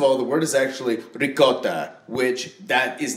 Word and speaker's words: ricotta: And I know that in proper Italian, it's pronounced ricotta. Yeah, ricotta. Yeah, right. But she says, "Oh no, it's rigat."